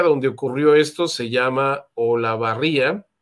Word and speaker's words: Olavarría: ocurrió esto se llama olavarría o la barriga sí creo que sí se debe pronunciar Y pues son imágenes